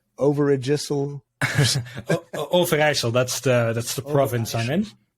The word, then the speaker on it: Overijssel: It's spelled Overijssel. Overijssel.